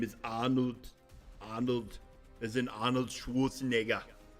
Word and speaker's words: Arnold: but his name is Arnold. Arnold, as in Arnold Schwarzenegger. And the T101's the reference to the Terminator. Arnold. It's like the Austrian, you don't pronounce the R. The R sounds like an H.